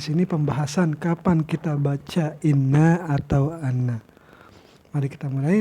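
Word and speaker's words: إنّ: tidak berbaris misalnya kan, apakah kita baca dia anna atau inna? Nah, berarti di sana kita harus membacanya dengan inna, karena disinilah ketentuannya. Kita baca inna itu ketika dia itu jatuh di awal kata atau di awal kalimat, misalnya di sini al-ibtida.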